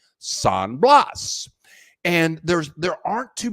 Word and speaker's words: San Blas: here it's called saying I'm gonna say it's sand blast I think in Spanish you would pronounce that San Blas and there's there aren't